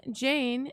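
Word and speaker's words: Jeyne: foes theon one jane jane it rhymes with airplane aka big walder won't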